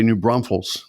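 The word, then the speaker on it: New Braunfels: So this 400th home, I'm going to say New Bronals. Am I pronouncing that right in Texas?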